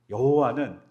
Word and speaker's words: 여호와: 될까 고민하기 시작한 거죠 그러다 아돈 아에 있는 모음을 따다가 야외의 자음에 다 붙였어요 그리고 그 붙여서 변 발음이 뭐냐 여호와에 여호와는 우연히 탄생한 단어인 거예요 발음이에요 근데 그게 고착화